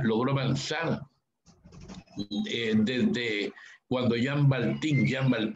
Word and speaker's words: Baltin: Tuvieses cómo Europa logró avanzar desde cuando Jean Baltin, se pronuncia B chica A-L-T-I-N, escribió La noche quedó atrás.